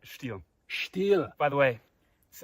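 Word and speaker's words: Stihl: Now, how do you pronounce that name? Is it Still? Stiel.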